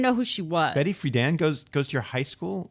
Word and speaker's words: Friedan: Betty Friedan, because I went to an all-girls high school. Is that how you pronounce it, Friedan? Yeah. I thought it was Frieden for some reason.